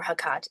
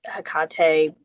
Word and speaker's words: Hecate: been He um or Hakat Hakate you know there's like I think you can pronounce it in like several different ways kind of like salin um but that